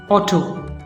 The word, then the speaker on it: auto: Another word is O, A-U, O, T, O, or O, auto, auto. So a sound, o sound is there also. So au is o as in auto, au is o as